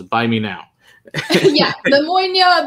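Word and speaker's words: Bunnahabhain: But yeah, or as Eric says, it's his point A is pronounced as buy me now. Yeah, the Moynia, buy me now.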